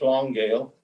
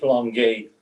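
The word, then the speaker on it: Longueuil: newfoundland and on the hmcs long gail that's the anglo pronunciation frank franco pronounced here's long gate which i've since learned to call it the long gate but we took convoys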